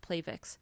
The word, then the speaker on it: Plavix: supposed to be pronounced Plavix because it sounds like platelet that's how it works